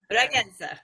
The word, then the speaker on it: Bragança: Bragança.